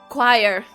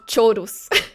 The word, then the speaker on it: choir: Choir. It was the first time I realized that English is the pronunciation of it. Look, my whole life I read this as chorus.